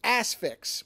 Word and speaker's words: Asphyx: today which is 1972's the assfix which is a terrible title because it sounds like either a joke title or a porn title but it's spelled a-s-p-h-y-x and it's a it's